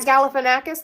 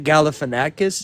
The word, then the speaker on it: Galifanakis: Zack Galafanakis the actor. Zach Galifanakis.